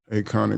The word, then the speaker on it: Aconic: Acon- Aconic Media. Yeah. And that Yeah. is it's spelled with an A, but you pronounce it like your name, Acon.